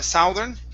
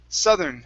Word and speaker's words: southern: uh this word here instead of uh southern it's southern southern colonies southern colonies okay awesome